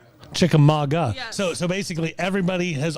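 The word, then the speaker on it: Chickamauga: So, uh, you are a, um, girl from Chikamagua. Yes. It's actually pronounced Chikamaga. Chickamaga.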